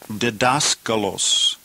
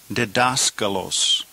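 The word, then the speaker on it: διδάσκαλος: So 23 the noun is pronounced dedascalos. Dascalos.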